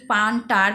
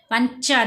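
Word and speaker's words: puncture: আমরা চ উচ্চারণ করবো আমরা কি পান্টার বলি পান্টার না পাঞ্চার বলছি কেন চ বল বলছি এখানে তো সি এইচ নেই তাহলে টি ও আর ই যেখানে দেখবে তোমরা সেখানে চ উচ্চারণ করবে তাহলে অর বলি পাঞ্চার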